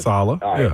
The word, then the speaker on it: Saleh: Especially with um, you know, with coach with uh coach Saleh, I can't pronounce his name right. You got it, Saleh. Saleh.